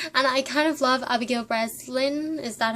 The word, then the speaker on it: Abigail Breslin: as Chanel Oberlin, and I kind of love Abigail Breslin.